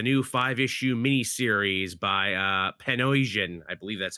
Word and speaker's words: Panosian: Uh Wolverine uh Paradise, a new five-issue mini-series by uh Panosian. I believe that's how you pronounce uh their Yeah. Dan Panosian, yeah. Yeah, Dan Panosian there.